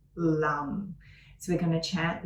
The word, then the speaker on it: Lam: So it's L-A-M, but it's pronounced a bit like L-U-M, LAM.